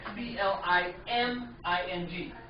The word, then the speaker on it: climbing: silent yeah find me the B is silent means you can't hear this one it sounds like c l i m i n g but it's spell with